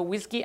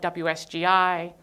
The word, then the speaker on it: WSGI: Flask is a WSGI application, WSGI, which I've also heard pronounced whiskey, but then I didn't know what they were talking about.